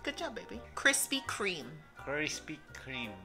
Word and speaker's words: Krispy Kreme: Tienes que pronunciar la T. Walmart. Ajá. Walmart. No Walmart. Walmart. Krispy Kreme. ¿Otra vez? Krispy Kreme.